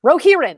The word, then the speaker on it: Rohirrim: Wait a minute, I'm looking up the note of how to pronounce this. Rohirrim.